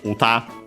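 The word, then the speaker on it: 歌: After that, another adjective, we have the term uta, Yeah, this one we have seen before, thanks to Jigglypuff, I'm pretty sure, in this very series. Song, technically also singing. Accent on the last more.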